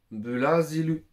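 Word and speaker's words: ブラジル: ça vient de Dutch pour dire Brésil on va dire blasilu mais je sais pas si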